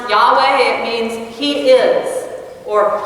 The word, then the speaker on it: Yahweh: most basic form it means to be it's pronounced Yahweh it means he is or he will be